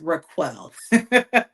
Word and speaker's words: RacQuelle: My name is Raquel. I get all kinds of pronunciations and I honestly probably answer to it all because I've done that my whole life.